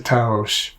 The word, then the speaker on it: Taos: Now, Taos is a small city in northern New Mexico, but I had to take a little creative license and make it a two-syllable word. So, Going Back to Taos.